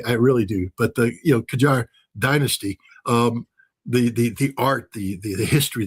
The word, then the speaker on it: Qajar: Tehran, we're blowing up some of the old Qajar. And again, I might be mispronouncing that.